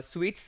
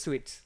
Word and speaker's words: suites: the first video of ATF uh I have pronounced uh suts as test suit test suits probably okay so that was my bad so it's pronounced as test suts okay so we will learn what is that